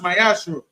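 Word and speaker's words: מעשר: Means tithe in Hebrew is pronounced ma'aser.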